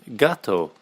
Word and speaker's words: gato: That'll be gato. Gato. Gato, which again could be a bit confusing, couldn't it?